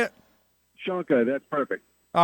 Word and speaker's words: Shonka: Shanka, that's perfect.